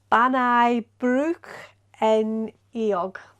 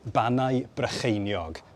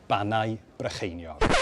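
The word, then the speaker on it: Bannau Brycheiniog: wanted to use the Welsh name, and it's pronounced Ironbridge en Iog. It's not really pronounced like that. Here's how you say it. Banau Brycheiniog National Park. Banau Brycheiniog.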